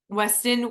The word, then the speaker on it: Weston: Weston, West Virginia.